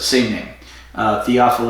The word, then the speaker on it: Théophile: pronounce TOEFL yeah but singing the offal a is the French pronunciation as opposed to the cage of pronunciation and théophile would be the anglo-saxon ization the English pronunciation she'll be like what